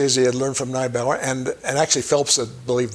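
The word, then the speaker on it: Neibaur: He was a German-speaking Jew, Alexander Neubauer, or Niebuhr, as some people pronounce it.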